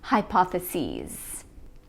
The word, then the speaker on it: hypotheses: the plural is hypotheses notice that we pronounce it with a long e sound hypotheses memorandum the plural is